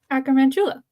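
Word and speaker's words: Acromantula: Acroantula.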